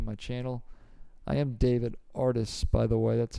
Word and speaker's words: Artis: I am David Artis, by the way. That's how you pronounce that last name.